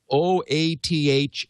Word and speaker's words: OATH: wait a minute o o a t h and o-a-u-t-h and of course yes oath obviously is how you pronounce o a t h um and actually it's